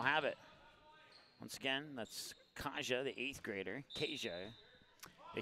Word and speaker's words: Kaja: So Kelson Kasha is how you say it. Kaja. Kasha. And then, so Kasha is how it's said, according to the email that Rick Smith was kind enough to email to me.